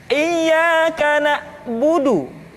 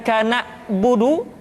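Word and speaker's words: إِيَّاكَ نَعْبُدُ: Kemudian perhatikan ketika huruf ain disukun, maka suara kita tidak boleh mati. Contoh, iyyaka na'budu, bukan kana budu, tetapi agak ditekan sedikit, kana budu, iyyaka na'budu.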